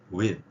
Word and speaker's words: with: 어쨌건 TH 발음은 혀를 물고 내는 소리이기 때문에 목젖까지 울리고요. 목젖까지 울리는 이런 소리입니다. 그래서 with the 발음이 약간 흘리듯이 with 이런 발음은 받침처럼 이렇게 표현될 때는 명확하게 안 들립니다.